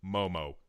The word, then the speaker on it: MOMW: we've met we've actually settled on a pronunciation for MW that kind of flows a little bit more and we're the Momo team MW Momo that's how it' be so we